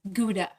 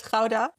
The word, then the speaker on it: Gouda: the cheese, Gouda, that everyone in the world mispronounces as Gouda. Yeah, so it's Gouda.